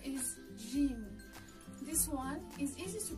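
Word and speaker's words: جيم: arabic and certain arabic it should sound like the j in the word gem while in egyptian arabic it sounds like dg in the word game they're both quite easy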